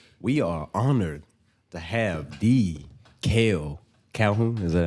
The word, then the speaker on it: Makael Calhoun: a big thing we are honor to have D kale calhon is that how you pronounce it yeah that's how you pronounce it D kale calhon bro yeah with us today man so we